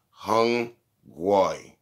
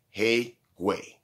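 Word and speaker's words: 黑鬼: Yo, if you ever hear an Asian person say hung guai, like hung guai, right? Like hung guai. Hey, matter of fact, it's pronounced hey guay. If you hear that word hey guay, that's the N-word.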